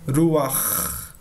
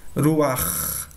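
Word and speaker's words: רוח: Então, por isso que eu pronunciei o R no início como se fosse um R mais brando, né? Não tão forte.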